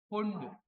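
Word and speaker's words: Pfund: फुंड। फुंड। पी जो है वो साइलेंट है, जैसे कि निमोनिया में भी पी लिखा था, लेकिन वो, बेटे आज तक हम लोग फुंड पढ़ते हैं, शायद उनकी मम्मी भी उनको फुंड बुलाती रही होगी।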